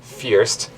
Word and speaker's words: First: it's called Uh grindal Fierce spelled like first so it's a little confusing the shared hostel is